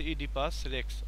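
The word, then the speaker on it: Oedipus Rex: এই স্টোরিটার নাম হচ্ছে ইডিপাস রেক্স এটার শুরুতেই একটা সমস্যা হবে অনেকেরই সেটা হচ্ছে এটার উচ্চারণ নিয়ে তো এটার উচ্চারণের ক্ষেত্রে আমরা এই ও টা উচ্চারণ করবো না কিন্তু লিখার সময় কিন্তু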